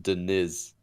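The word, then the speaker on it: Diniz: Denise, by the way, it's pronounced Denise. It's Pedro Denise.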